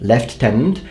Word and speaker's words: Lieutenant: in a way and your pronunciation left tenant makes no sense if you look at the actual word then you should apologize